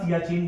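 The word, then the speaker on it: Siachen: तो यहां पे हम देखेंगे तो आपको यहां पे जो रीजन मिलेगा ये वाला ये वाला reason that is called the सियाचीन glacier.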